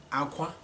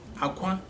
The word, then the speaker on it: akwa: They are spelled the same way, pronounced differently, okay?